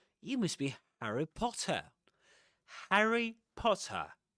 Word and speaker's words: Harry: Harry Potter. Right. The first syllable in the first vowel sound in Harry is the same as in hat. Right. hat or cat.